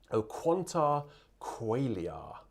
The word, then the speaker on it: O quanta qualia: tune for ben wallace o quanta qualia qualia because in latin you pronounce all of those syllables so it's been harassed